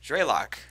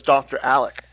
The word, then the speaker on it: Draylock: How do you say it? Draylock. Draylock. Yeah, that's at least. Oh, okay. Now that's easier than I assumed because I thought it was Dr. Alec.